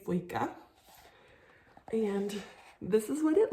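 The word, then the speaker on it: Føyka: It's got the O with the dash through it, which I looked up and it makes kind of like a O sound. Ooh. I'm gonna say Foyka is how you say that word.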